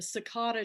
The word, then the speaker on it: cicada: It'll be our February book of the month, The Cicada Tree. Now, you pronounce it Cicada. cicada.